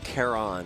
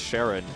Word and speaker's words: Charon: it's Kon Chon I think it's Kon like the like Pluto's moon or it's not no it's Sharon I guess then yeah I wait is that really pronounced Sharon yeah I think Pluto's Moon's pronounced Sharon okay well I mean it's